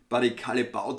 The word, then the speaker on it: Barry Callebaut: gewohnt was ist barry callebaut wird es wissen barry callebaut so habe ich jetzt das in videos auch nach gehört wird ausgesprochen offensichtlich von den meisten das ist der